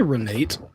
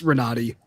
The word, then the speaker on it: Renate: Did you say Renate? Renee Ryan, I should say. My bad. It's Renati.